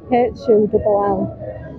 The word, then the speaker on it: Hull: Hull. Hull, England? Hull? Yeah. Hull. How do you spell that? H-U-L-L.